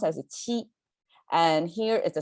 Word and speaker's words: 七: This is our number 7, pronounced as a qi.